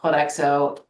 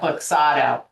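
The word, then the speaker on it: Kloxxado: I would say that wrong, Clodexo. I always say it wrong. How do you say it? Cloxado? How do you say Is it? that what you're talking about? Cloxado? Yeah, Cloxado.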